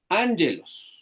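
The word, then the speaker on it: ἄγγελος: Cuando dos gamas están continuas se lee como una gutural n la primera gama. Por eso la lectura esos. Angelos y significa mensajero.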